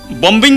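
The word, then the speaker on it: bomb: বম্বিং বলবেন নাকি?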